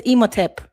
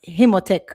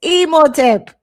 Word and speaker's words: Emoteep: But replay, his name is Emoteep, not Himotech. And why everybody write him name wrong? It's That's so funny. It's Emoteep. It's easy.